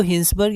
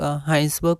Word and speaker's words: Hinsberg: बार देख लेते हैं इसको हिंसबर्ग या फिर हास बर्ग बोलते हैं पर जनरली हम लोग हाइंस बर्ग प्रोनाउंस करेंगे और एक हाइजनबर्ग भी